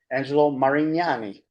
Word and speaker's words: Angelo Marignani: Has two grown children and I I'm pleasure I'm pleasure to introduce to you Angelo Marignani. That's the correct pronunciation.